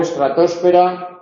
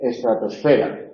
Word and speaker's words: estratosfera: tras piés Eh bueno video video y voleibol voleibol se puede pronunciar también biosfera en Europa es más común biosfera o estratósfera en Europa es más común estratosfera colonoscopía en Europa es más común colonoscopia endoscopía en estos casos